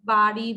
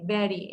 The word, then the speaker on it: bury: এটা হচ্ছে BURY, অনেকে বাড়ি, ব্যারি অনেক কিছু বলে, ইটস এ ব্যারি, BURY, ব্যারি, এ উচ্চারণ হবে।